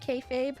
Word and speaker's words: kayfabe: all the noise also did I say it right kayfabe or is it K Fab I did say it